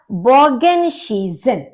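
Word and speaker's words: Bogenschießen: हमारा अंतर है दास बोगन शीजन डास बोगन शीजन देखिए एस सी एच का श हो गया आई ई का ई रहता है और इसकी साउंड आपकी एस होती है तो बोगन शी से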